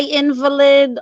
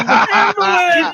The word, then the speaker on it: invalid: Invalid and invalid are spelled the same. It's how you enunciate.